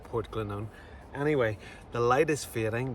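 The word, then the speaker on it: Portglenone: It looks like Port Glenn 1, but pronounced Port Glennon.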